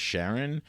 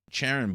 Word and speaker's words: Charon: ended up naming it Sharon but the official pronunciation of that moon they put a sha sound in front instead of Charon so I was like